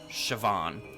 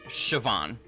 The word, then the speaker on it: Siobhan: like, oh, okay, yes, Siobhan. B equals V in Ireland. Oh, okay, I got you, I got you. So it is Siobhan, technically.